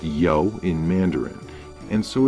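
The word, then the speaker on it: 柚: This is because the word for grapefruit is pronounced yo, the same syllable as because, but with a different tone.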